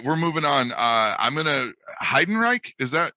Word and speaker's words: Heidenreich: I'm gonna Heidenreich. Am I pronouncing it right? Yes.